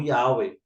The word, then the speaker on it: Yahweh: É tanto que os samaritanos até os dias de hoje, os samaritanos pronunciam o nome do eterno como Yahweh.